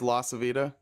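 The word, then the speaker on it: LaCivita: Chris Lacavita said expect a visit. La Savita. La Savita? Okay. I I thought mean, Harry was saying it wrong, but it is La Savita.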